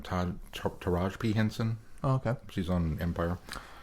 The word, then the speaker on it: Taraji P. Henson: I don't know how to pronounce her name. Taraji P. Henson.